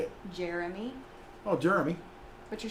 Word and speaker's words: Jeremy: Jeremy. Oh, Jeremy. But you're saying Jeremy. Like, so what does H-E-R spell? Her. J-E-R? Jer.